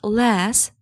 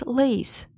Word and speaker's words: lace: It's not less, it's lace.